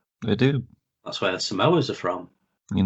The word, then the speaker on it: Samoa: That's where the Samoas are from.